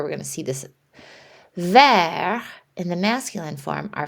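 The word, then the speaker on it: verte: Vert, in the masculine form, our final consonant T is silent, vert. When we add the E, vert, that T gets pronounced.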